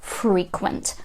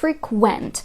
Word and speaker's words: frequent: Третє слово на сьогодні - це frequent або frequent. В залежності від того, знову ж таки, куди ви поставите наголос, зміниться частина мови. Frequent означає який прикметник? Частий. For example, frequent visits. Часті візити. А от frequent, коли наголос вже на другий склад падає, буде ставати дієсловом.